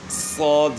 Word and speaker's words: صاد: ان کو سمجھانا ہے کہ سین کو موٹا کریں صاد بن جائے گا. آسان سا جو ہے نا طریقہ ہے سمجھانے کا کہ سین کی آواز کو موٹا کریں صاد بن جائے گا.